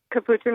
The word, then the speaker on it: capuchin: Capuchin monkey.